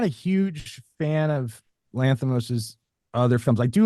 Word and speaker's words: Lanthimos: Am I pronouncing his name right? Yorgos Yorgos. Lanthimos.